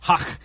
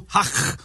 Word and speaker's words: Haq: And when you say Hach, you got to say it like that. Otherwise, it just doesn't feel, you know. So Abdul Hach Wasik.